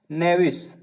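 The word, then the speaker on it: knavish: चलिए अगला वर्ड हमारा है नेविस। नेविस का मतलब होता है कपटी। नेविस में के हमारा साइलेंट है, ठीक है दोस्तों। क्या है, के हमारा क्या है, साइलेंट है, ठीक है।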